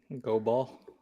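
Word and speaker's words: Goball: was good oh god go ball it's like go go ball go ball like cobalt yep gotran rhymes with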